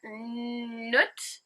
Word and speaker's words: Nut: thinking okay number four nut in brackets rhymes with foot is the goddess of